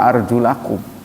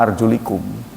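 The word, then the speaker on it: أَرْجُلَكُمْ: Bukan wa arjulikum. Usaplah kepalamu ya, terus dan kakimu. Nah, sekarang seakan ada kesan usap kepala, kaki juga begitu kan diusap. Padahal kaki itu dibasuh. Karena itu dibacanya arjulakum bukan arjulikum.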